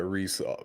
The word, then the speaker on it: Reiss: You nailed my name, Reiss. That's how you pronounce the last name. no one really messes up, but Reiss, people butcher a lot.